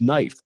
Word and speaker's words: knife: Knowledge knife. Slipnot. The bat. The K is silent.